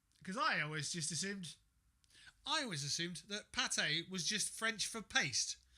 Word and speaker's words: pâté: It's pate. Let me just see. Duck pate. It's bloody Russian anyway. Can of duck pate. Oh. Right, let me just have a look here. What is pate? Pate, pronounced pâté, is a rich, savoury